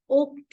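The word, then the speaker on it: Oktober: not October it is October oober in German because o is pronounced as o in German language so it is October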